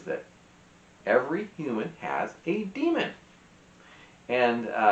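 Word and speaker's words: daemon: Now, the biggest and most remarkable thing about Lyra's world is that every human has a demon, and it's not like a devil, although that would be interesting if it was.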